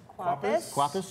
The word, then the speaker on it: Kwapis: Kwapis, yeah.